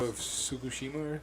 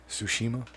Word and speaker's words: Tsushima: yeah i think i think it's ghost of fukushima tsukushima yeah tsushima whoops that's all they butchered that sushima it reminds me of onimusha